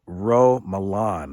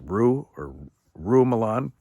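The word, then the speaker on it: Roux Malan: It has a preface here by someone by the name of Rou Malan, I believe is how you pronounce the name, R-O-U-X, Rou Malan, and a self-proclaimed specialist, pastoral counselor, and personal growth coach.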